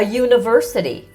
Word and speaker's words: university: A dog, a book, a car, a university. Even though u is a vowel letter, it sounds like u.